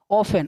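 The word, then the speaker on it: often: Spelling क्या बनी मिला के, ऑफन। ऑफन क्या पढ़ते इसको, ऑफन। इसे हम ऑफ्टन नहीं पढ़ते ना, ऑफ्टन नहीं, ऑफ्टन गलत होगा बच्चा, ऑफ्टन नहीं, क्या, ऑफन।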